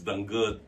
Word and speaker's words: danggit: Spirit pronunciation is danggut.